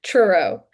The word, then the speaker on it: Truro: Is it pronounced true? It's hard to say. Truro.